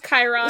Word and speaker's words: Chiron: shut up I refuse to learn how to pronounce that it's Chiron so because we all were uh dancing around